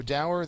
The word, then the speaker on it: dour: So dour, there is no accent mark because there's only one syllable.